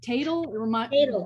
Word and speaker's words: Tatel: Title and Tatel, rhymes with cradle. Tatel has trained in Aikido since 1992 and has developed BEAT, Being Empowered After Trauma, a program based in Aikido principles.